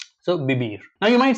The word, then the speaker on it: vivir: Here also, we have to pay attention close attention to pronunciation because it's not vivir, it's vivir. Like in like soft B sound. So vivir.